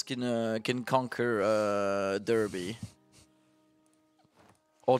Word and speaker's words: Derby: uh can conquer uh Derby or Darby because apparently this e supposed to be pronounced like an a for some goddamn reason